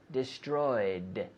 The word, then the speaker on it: destroyed: yesterday they destroyed destroyed destroyed with the D sound destroyed but no extra syllable that is not destroyed